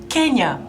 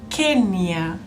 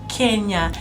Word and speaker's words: Kenya: how we pronounce our country our country is pronounced as Kenya not Kenya as most visitors come here and give us a really hard time but our country is pronounced Kenya so here in Kenya people drive from the